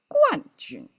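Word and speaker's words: 冠军: Normally it's a pronounced as a guan. And here guan jun.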